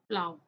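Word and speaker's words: plough: Next क्या है, थॉट, next क्या है, प्लाव।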